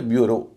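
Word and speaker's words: bureau: इधर ब्यूरो, ब्यूरो में आखिर में EAU है, उच्चारण हो रहा है ओ।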